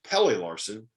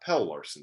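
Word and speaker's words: Pelle Larsson: last one was uh it's pele larson not pell larson so we got that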